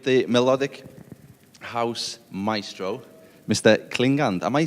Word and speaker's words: Klingande: Klingons am I saying it right I believe I am yeah a Klingon is the right pronunciation it's the right way